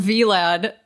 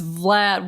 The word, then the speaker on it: Vlad: I was calling him Vlad, and someone on Instagram was like, it's Vlad, one syllable.